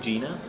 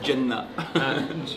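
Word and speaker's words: Jena: You say, how do you say it? I think Gina. Yeah, but you say it like it's a facility. You say it in like almost Arabic. You say Jenna. Gina. Gina facility.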